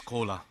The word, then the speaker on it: Kola: Just on the stage another collaboration is coming because my name is Kola everybody can understand this is exactly same pronunciation of Coca-Cola.